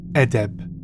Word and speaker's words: adab: This is an Arabic word pronounced edeb.